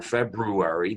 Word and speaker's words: February: couldn't do it after February, note I do pronounce both R's, we're hurting and we're just trying to build up the funds.